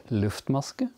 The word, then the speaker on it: Luftmaske: We're going to repeat them now without the paper, yeah, so that you get the pronunciation. Chain stitch is a Luftmaske.